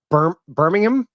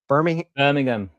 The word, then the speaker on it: Birmingham: pronounce it right. It's Birmingham. Birmingham.